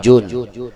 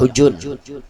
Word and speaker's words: Hujun: Ada yang membacanya sebagai Hajun, ada pula yang membacanya sebagai Hujun. Orang Arab biasanya membacanya sebagai Hujun, Kampung Hujun.